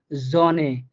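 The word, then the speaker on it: Sonne: দেখেন আমি উদাহরণ দিলাম, জনে, উদাহরণটা হচ্ছে কি, জনে, দেখেন এস এর পর আমরা একটা ও পাইছি, ওটা হচ্ছে আমার একটা বাওয়েল, এটাকে আমরা ইংলিশে বাওয়েল বলে থাকি। হ্যাঁ, তো এটা এই জন্য আমরা এখানে এসটাকে জ বা বর্গীয় জের মতো করে উচ্চারণ করলাম, জনে।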